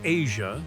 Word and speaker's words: Eja: her husband welcomed their son Asia, pronounced as Asia.